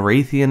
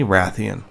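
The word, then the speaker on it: Rathian: R at the end I know I've been guilty of calling it a wraith e'en in the past but I'm going to fix my wrong it's definitely Ratheon Toby hibachi Toby Adachi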